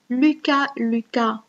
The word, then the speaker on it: Lucas: Lucas, on ne prononce pas les S, le S. Lucas est un compère, c'est un nom propre masculin.